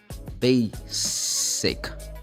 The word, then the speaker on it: basic: cuz this is normal the way Brazilian students say basic it sounds like Z but no this words should be pronounced basic yeah we're going to